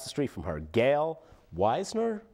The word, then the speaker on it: Weisner: street from her Gail Weisner Weisner we'll say Weisner no we'll say weasner because that's how the Germans would pronounce it it's a German name weasner Gail weasner is